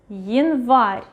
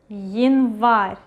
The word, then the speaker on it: январь: When ye or ya at the beginning of a word, we read it as y. For example, январь, январь, январь. Well, first of all, the stress is going over here.